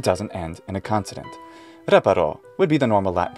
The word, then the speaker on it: reparo: this word that's right it goes on re because the penultimate syllable is short it doesn't have a long vowel and it doesn't end in a consonant reparo would be the normal